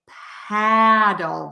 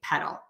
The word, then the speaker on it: pedal: an e there so we would not say paddle there we would say pedal so again not paddle but pedal so did any of